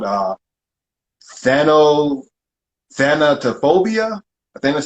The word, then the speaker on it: thanatophobia: a step further which is called uh thano thanatophobia i think that's how you pronounce it you said it right you said